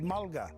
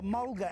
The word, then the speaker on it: mulga: call this tree and the blackfella said malka they spell it m-a-l-k-a and the white fellas wrote it down as mulga so mulga comes from traditional language name malka the timber from this